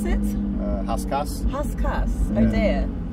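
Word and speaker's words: Rascasse: Haskas. Haskas. Yeah. Oh dear. So when us Brits will call it Raskas. Well, you know. It's not the true way of saying it.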